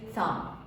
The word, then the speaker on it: thump: If it is without the ing, the p is silent, so it is thump.